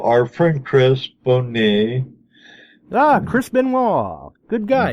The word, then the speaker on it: Benoit: Chris Benoit. Good guy. Benoit, that's right, recovery. Benoit. You know, I had to put that in Google Translator to get the pronunciation right, because that don't spell Benoit to me.